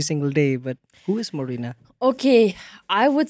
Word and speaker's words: Marina: How do you pronounce it? It's Marina or Marina or how? Marina.